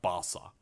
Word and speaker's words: Barca: But they've only added Bars or Barca. I'm pretty sure it's pronounced Barca.